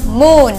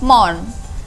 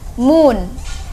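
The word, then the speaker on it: moon: atau gunung api kemudian bulan bahasa Inggrisnya Wun bacanya Mun ya bukan Mon Mun pakai ubahnya Mun artinya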